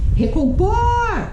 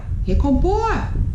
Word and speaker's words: recompor: Recompor! Recompor! O por é a sílaba tônica.